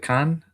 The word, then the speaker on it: Caen: And at Khan? Is it Caen?